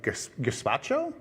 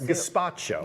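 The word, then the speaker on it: gazpacho: She's making a light version of gpacho. Is that how you say it? Gpacho. Gaspacho.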